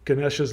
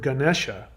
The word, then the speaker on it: Ganesha: In fact, the word Ganesha, the beginning syllable Ga, comes from the Indo-European word where we get the word go.